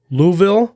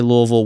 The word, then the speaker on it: Louisville: you pronounce it yeah you always have to pretend like you got water in your mouth and you're talking you don't want it to spill out so that's the way to do it if you pretend you got water in your mouth and you're trying to say Louisville without it spilling that's the way to